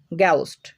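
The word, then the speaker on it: ghost: কোনো শব্দের শুরুতে জি এইচ থাকলে গয়ের মতো উচ্চারণ হয়। যেমন গ্যাউস্ট, গ্যাউস্ট মানে ভূত, গ্যাটেও। তো দেখো এখানে দুইটা উদাহরণের মধ্যেই কিন্তু আমরা শব্দের শুরুতে জি এইচ পাচ্ছি আর এখানে জি এইচ এর উচ্চারণ হচ্ছে গয়ের মতো।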